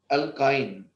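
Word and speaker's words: alkyne: इन alphabetically ई पहले आता है, यहां आइन, आइन की तरह हम लोग आई की तरह प्रोनाउंस करते हैं लेकिन स्पेलिंग वाई होती है, अल्काइन, है ना।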